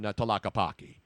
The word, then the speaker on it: Tlaquepaque: I bought a lot of art in Tlaquepaque.